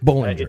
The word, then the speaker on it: Bollinger: Bollinger. It is B-O-L-L, but it's pronounced B-A-L-L kind of.